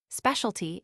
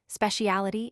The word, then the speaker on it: specialty: Specialty in America is always accented on the first syllable specialtity in England on the third.